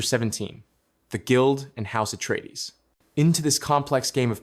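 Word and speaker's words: Atreides: the guild and house at trades. Into this complex game of power, we now introduce House at Trades, pronounced atree dees.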